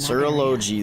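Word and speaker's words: Surtalogi: My master, Serology, is a true expert in that Serology, that's how you say it.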